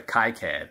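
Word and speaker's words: KiCad: i had to use ki cat i got pretty good at it in order to be able to make that that coil or i'm sorry kai-cad i think that's how i was pretty pronounced um now the one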